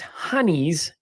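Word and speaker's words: Singin' Hinnies: Now it's pronounced honeys in Northeast England, but nobody cares about the Northeast Englanders. But that's where it comes from. It comes from Britain, Okay. but the Northeast Englanders pronounce it as honey.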